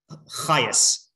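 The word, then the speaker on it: Chajes: So this is it took me a while to figure out how to say his name, Chayas. Okay, looks like Chajas.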